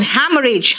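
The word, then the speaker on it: haemorrhage: Exhaust and हैमरेज, हैमरेज में second H silent है, देख रहे हो, H साइलेंट है।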